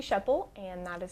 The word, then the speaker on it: Schoeppel: sure everything's spelled okay my name is sheppell and that is spelled s c h o e p